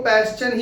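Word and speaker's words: Paschen: Fashion. क्या? जल्दी से बोलोगे तो फैशन निकल जाएगा। पर आपको पैशन ही बोलना है। पैशन बोलोगे तभी स्पेलिंग सही लिख पाओगे। ठीक है? नहीं तो फैशन हो जाएगा।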